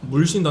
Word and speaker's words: 물신다: 뭐라고 읽어야 돼요? 물신다.